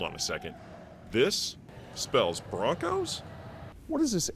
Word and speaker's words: Bronchos: Broncos, but it's spelled Bronchos.